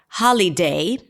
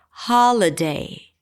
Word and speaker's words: holiday: every syllable has the same length, holiday, holiday, all of a sudden the high is really long because it's the primary stress. H really short. Holiday holiday not holiday.